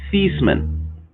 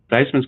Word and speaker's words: Theismann: it was it was feastman but then when he was in the running for the heisman trophy they decided okay weisman's good diceman's good because it rhymes with heisman and so since then